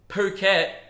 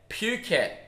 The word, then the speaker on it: Phuket: I've been calling Phuket, Phuket. Why? Because Phugot. Because I can't help myself. My brain sees a word starting with P and goes, mispronounce it.